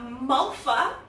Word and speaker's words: Malva: We're going to make a Malva pudding. Malva. Malva. It is spelled M-A-L-V-A. So how would you say that? Malva. Malva. Yeah. Most people would, but not South Africans. They say Malva.